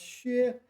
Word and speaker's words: 削: Okay, so this one can be pronounced 销 and it can be pronounced 削. It refers to, it's a verb meaning to peel.